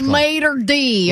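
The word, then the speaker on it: maître d': Well, you're like El Mater D. I mean, you sound like you're from Alabama. Jesus. I was going to cancel that word. Mater d. That's how you say it.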